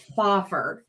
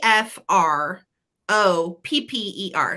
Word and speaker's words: Fropper: about the artist so Maria foffer is her name and I'm probably saying it wrong it's Maria p f r o p p e r so fropper okay and she is a